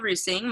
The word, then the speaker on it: Reusing: And so it's because I say Roosing, they're like, what? So it's Kendall Roosing, but it's spelled like reusing.